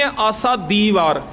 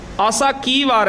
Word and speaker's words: ਆਸਾ ਕੀ ਵਾਰ: असी कई बर कहने आसा दी वार आसा दीवार कहना गलती है क्योंकि गुरु ग्रंथ साहिब वि आसा दीवार नहीं लिख होया आसा की वार है कके नाल आया दद नाल नहीं आया असी उच्चारण कर रहे